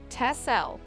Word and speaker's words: Texel: the picturesque waden Sea Island Of Texel pronounced tessel is surrounded by expansive